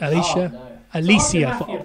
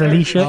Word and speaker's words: Alicia: Alicia. I said it wrong. Oh, no. I said Alicia. It's Alicia Fox.